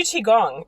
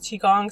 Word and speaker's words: qigong: I do Qigong as well. And Qigong, it's spelled with a Q, T-I space G-O-N-G.